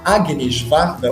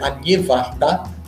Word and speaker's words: Agnès Varda: que antes de Godard, antes de Truffaut, a Agnes Varda, ou Agnès Varda, como preferirem pronunciar o nome franco-belga, essa cineasta incrível que